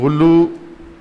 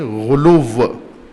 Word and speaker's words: غلو: میں کہتے ہیں غلو۔ غلو نہیں، غلو پنجابی تلفظ ہے، عربی تلفظ کریں غلو، سب کہیں غلو۔ غالی یعنی جو مخلوق